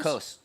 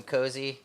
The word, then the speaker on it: Coase: Coase. Yep. Yep, the first time I saw Coase, I called him Cozy, and I was corrected.